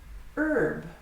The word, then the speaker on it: herb: Herb. This is also pronounced without an H sound in American English.